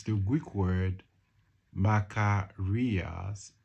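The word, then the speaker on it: makarios: It's the Greek word makar rias.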